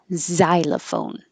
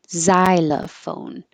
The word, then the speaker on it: xylophone: beginning of words and Americans are going to pronounce it as Z xylophone xylophone and xenophobia xenophobia when um the x is